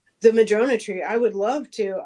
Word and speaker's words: Madrona: Uh, Madrona.